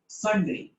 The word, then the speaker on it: sundry: मैंने कहा सुंदरी नहीं, यू साइलेंट है, सन्ड्री एक्सपेंस बोलते हैं।